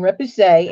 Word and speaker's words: repoussé: So anyway, so we're going to talk about rep, repoussé, and that I listened to the Google how you say it thing, Repoussee, and we're going to talk about Damascene.